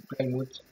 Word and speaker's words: Plymouth: Je vais vous montrer comment ça s'écrit. PLYMO. En fait, comme. Donc en fait, c'est Plymouth. Mouth. Plymouth. Plymouth. Voilà. J'ai pris mon accent anglais.